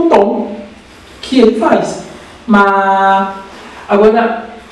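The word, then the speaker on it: má: Ele sai aqui do terceiro nível e vai para o quinto.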